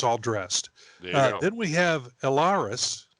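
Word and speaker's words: El'raris: dressed then we have alaris i guess that's how it's pronounced yeah it's it it's e-l apostrophe r-a-r-i-s so it's a book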